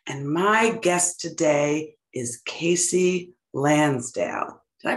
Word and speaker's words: Kasey Lansdale: out next june and my guest today is casey lansdale did i pronounce that right casey nailed it thank you